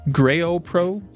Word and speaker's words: Gro Pro: to ad motor and they say it's pronounced um Gro Pro what the gro Pro